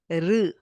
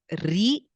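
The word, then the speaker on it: ऋ: Okay, Krishna, R, not Ri, not Ru.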